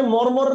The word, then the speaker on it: মর্মর: এই রটা কিন্তু, এই যে রেফের রটা কিন্তু এই ময়ের পরে, প্রথম ময়ের পরে উচ্চারণ হচ্ছে, ঠিক আছে? তারপরে মর্মর, মানে যাই যেভাবে লিখেন না কেন আপনি কিন্তু উচ্চারণ অনুসারে যদি লিখতে যান তাহলে ব্যাপারটা হচ্ছে এরকম যে মর মর, এই তো মর্মর।